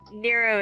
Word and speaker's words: Nero: Nero is, Zero rhymes with Nero.